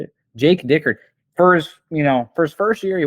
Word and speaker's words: Dickert: Honestly, Jake is it Dickert? Is Yes. that how you say it? Jake Dickert.